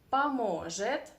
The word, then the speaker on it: поможет: помогу, ты поможешь, он поможет, она поможет, мы поможем, вы поможете, они помогут. Don't forget about Russian reduction here. Okay, that first O we should pronounce as a.